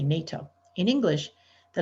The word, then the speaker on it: NATO: nato unlike an initialism we pronounce these four letters as a new word we say nato not nato we say nato in english the letters